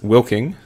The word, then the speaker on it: Wilking: a special guest Alex will king hello that that is how you say your last name I I just be